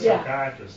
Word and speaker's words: psychiatrist: We had fun with psychiatrist the other day because of P is Savage. She kept asking me, why is the P not pronounced?